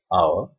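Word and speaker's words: hour: note of this point the words our honest air begins with a vowel sound as the initial consonant heads is not pronounced it is silent there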